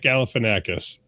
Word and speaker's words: Galifianakis: Is that how you pronounce it? Because I've been saying it totally different. Yes, it's Zach Galifianakis.